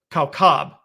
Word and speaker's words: kaukab: Greek word aster, A-S-T-E-R, or the Hebrew word kaukab, okay, and we spell that K-O-W-K-A-B, kaukab, right?